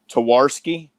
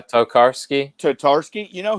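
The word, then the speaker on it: Tarkowski: Towarski? Is that how you pronounce it? Oh, yeah, Tokarski.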